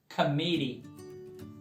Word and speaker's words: committee: Committee. Repeat. Committee. Ou pode pronunciar o T ali mais forte. Na verdade, os dois T's, né?